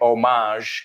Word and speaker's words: homage: Vale, ¿no pronunciáis la H en este caso? Homage, no.